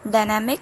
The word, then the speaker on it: DYNMK: I get 99% of my music from this channel called Dynamic. It's spelled DYNMK.